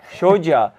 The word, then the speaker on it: Shoja: Am I pronouncing that correctly? Yeah, that's great. Shoja is the team guide for Egypt.